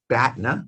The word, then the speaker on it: BATNA: BATNA rhymes with Katna.